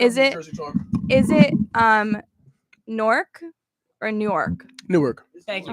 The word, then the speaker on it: Newark: Newark or Newark? Newark. Thank you. Oh my god. It's not It's Newark. Newark. It's Newark. literally Newark. Newark. What? It's Newark. There's clearly 2 syllables.